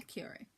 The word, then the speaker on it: Curie: Scientist friend hooked her up with Pierre Curie.